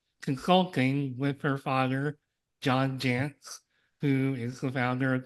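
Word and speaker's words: Jantsch: Sarah and her Father John Jance which rhymes with pants so I had to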